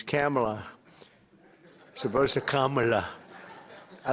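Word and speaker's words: Kamla: He said, "No, sir, it's a little different. It's Cam, right? Cam as opposed to Com."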